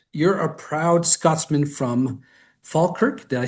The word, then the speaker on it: Falkirk: but just on Scotland and your roots, you're a proud Scotsman from Falkirk. Did I say that correctly? That's correct. The Oh, Falkirk.